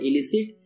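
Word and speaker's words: illicit: word हमारा है इलिसिट देखो इसको भी प्रोनाउंस करते हैं इलिसिट एंड इसको भी प्रोनाउंस करते हैं इलिसिट थोड़ा बस डिफरेंस है आई डबल एल और इसमें लग गया I double I dull L okay उसमें ई था इसमें आई ओके तो इसीलिए थोड़ा येम साउंड सिमिलर है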